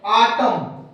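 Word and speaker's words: autumn: आटम, dam, column और hive, इन चारों उदाहरण में दोस्तों देखिए हमें एम एन एक साथ आ रहा है, जिसमें से हमारा प्रत्येक एन साइलेंट है।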